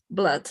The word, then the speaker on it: blood: But you don't say Blood. blood, you say blood, as this were an A, blood. It's an exception in pronunciation. It's this specific word that you don't pronounce like a U, you pronounce like an A.